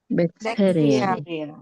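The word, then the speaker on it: bacteria: Tapi kalau bakterinya ada banyak bakteria bakter bakteria. Oke, ini pengucapannya adalah bakteria.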